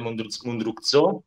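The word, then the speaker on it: Mundruczó: All'8° posto, come ha citato anche Baratta, inserisco Pieces of a Woman di Cornel Mundruzzo, si pronuncia, e quella prima mezz'ora, con quella prima mezz'ora che mi ha commosso, è un film veramente stupendo nella sua sensibilità.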